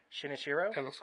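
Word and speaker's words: Shinichirō Watanabe: the director I'm not even gonna try to pronounce that first name she should I try sheena Shiro is that right shin oshiro correct uh Watanabe yep okay got that right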